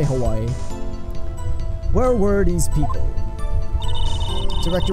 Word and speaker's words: Hawaii: you can see it Hawaii the way I stand with the W in Hawaii the W is turned into like a V sound so it's more like Hawaii but there's actually supposed